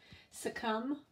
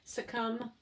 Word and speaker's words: succumb: Succumb, okay? So you could say it two different ways. Succumb, I'm hearing more of a short I sound.